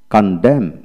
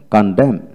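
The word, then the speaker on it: condemn: Word এর মধ্যে এম এন পাশাপাশি থাকলে এবং এর মধ্যে ভাওয়াল না থাকলে এন এর উচ্চারণ হয় না। লক্ষ্য করেন, কন্ডেম কন্ডেম, CUN কন DEM কন্ডেম।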